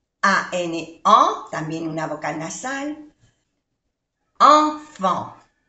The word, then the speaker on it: enfants: Enfant. No se pronuncia ni la T ni la S. Enfant.